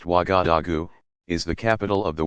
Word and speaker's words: Ouagadougou: Ouagadougou, pronounced Ouagadougou, is the capital of the West African country of Burkina Faso.